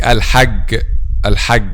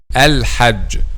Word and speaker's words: الحج: Okay, so for example, saying al-hag, and this is a common mistakes among native Arabic speakers themselves. Some native Arabic speakers themselves says al-hag, and this is wrong, by the way. The correct pronunciation is j, al-hajj, the middle part of